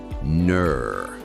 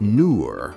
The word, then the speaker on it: neur: It rhymes with words like sir or her, but it is more elongated and purposeful. Listen closely. Ner. Not nur with a U, and not a flat, lazy ner.